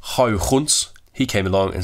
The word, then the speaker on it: Huygens: But then a guy called Huygens, or if you want to pronounce it properly, it's Huygens, he came along and